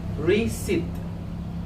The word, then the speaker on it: receipt: The P in this word is a silent letter. This P is a silent letter. Mosa P a son on let ki muet na mosa. It is pronounced as receipt.